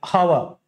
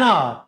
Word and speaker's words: hour: An R, don't say an hour, it is an hour.